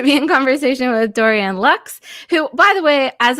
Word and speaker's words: Laux: french too long and he had dorian locks right like that's good enough lux that's it's absolutely right i mean it is french name how do you say it we say my family says locks oh locks okay good